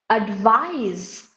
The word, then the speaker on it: advise: Like the words, when you say, for example, when you say advice, ADVICE, you know it's noun. But when you say advise, ADVISE, you know that is verb. So with the changing of the parts of speech, you are changing the pronunciation.